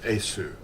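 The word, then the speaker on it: Iesu: The V is actually the Latin U. That's what it is. It's pronounced Esu.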